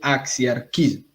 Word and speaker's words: axiarquismo: Una cosa rara llamada el axiarquismo. ¿Sí o no? ¿Se pronuncia así? ¿Axiarquismo? Muy Sí. bien.